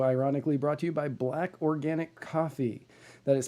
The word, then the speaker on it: BLVCK: episode is also ironically brought to you by black organic coffee that is spelled blvck black organic coffee for the best